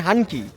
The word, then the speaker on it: হানকি: হানকি হয় নক হয়শি উচ্চারণ যেন ভুল না হয় শুনতে যেন ভুল না হয় হানকি এই হচ্ছে হানকি আর সেই সাথে বলবো